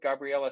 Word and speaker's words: Gabriela: to uh expand the conversation now to include gabriella from southern oregon climate action network gabriella